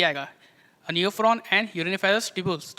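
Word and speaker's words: Nephron: आएगा इसमें ये देखो ये न्यू फ्रॉन है नेफ्रॉन नहीं है न्यू फ्रॉन तो वल्चर होता है ना मैंने स्पेलिंग देख लो क्या है एन ई ओ पी एच आर ओ एन और वो नेफ्रॉन क्या होता है एन ई पी एच आर ओ ए नेफ्रॉन एंड नेफ्रॉन new frown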